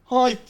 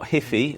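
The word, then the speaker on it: HiPhi: here back here cars it's pronounced HiFi highi okay I was closer not hiy or hippie or whatever it was I haven't come acoss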